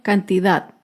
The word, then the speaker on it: cantidad: tilde es la palabra cantidad cantidad se acentúa en la última sílaba pero no lleva tilde